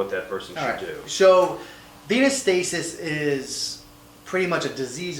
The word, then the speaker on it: venous stasis: i pronounced it right Venus Venus status leg ulcer ven oh us how would you pronounce that venous stasis venous stasis well I got none